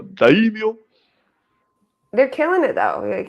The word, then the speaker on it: daimyo: Daimios? Yeah. How? Just daimios. Daimios? Daimios? Or get you full Japanese accent. Go daimyo.